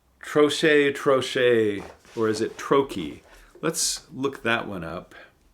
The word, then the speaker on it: trochee: Trochee. Trochee. So it's trochee. A metrical foot consisting of one long syllable followed by one short syllable, or of one stressed syllable followed by one unstressed syllable.